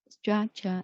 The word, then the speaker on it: structure: And then, 1, 2, structure. Yeah, there are 2 syllables in the structure, and the stress should be put on the first one.